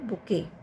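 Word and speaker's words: bouquet: इस वर्ड पे ध्यान दीजिए, इट इज़ कॉल्ड बुके। इसमें टी जो आ रहा है लास्ट में, इसको बोलते नहीं है, ये साइलेंट लेटर है, यहाँ बोलते हैं खाली बुके।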